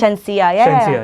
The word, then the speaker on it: Shenseea: The pronunciation is correct? Shenseea, yeah.